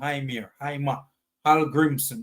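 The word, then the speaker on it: Heimir Hallgrímsson: I don't know where Heimir, I keep calling him Heimir Hallgrimmson. That's how it's pronounced.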